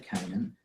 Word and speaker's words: Canaan: exploring Canan so that word is can Canan Canan is how you say that and I have